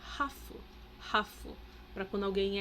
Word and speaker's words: ハーフ: やっぱりなんかハーフだから見られた時とか Tem uma coisa que no Japão eles costumam chamar essas pessoas de hafu, que é de half, né? H-A-L-F, metade, né? Então ele chama essas pessoas de Hafu, tá? Que é a maneira como eles acabam pronunciando.